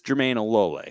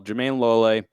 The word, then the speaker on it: Jermayne Lole: So it is Jermayne Lole, correct? Yes. Not Jermayne Lole. Jermayne Lole. Yes.